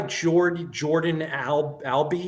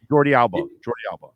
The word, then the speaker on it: Jordi Alba: So is the new guy Jordan Albi? Is that how you say it? Jordi Alba.